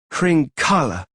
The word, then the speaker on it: Hringala: No, Hringala. You have to hang on the last syllable a bit.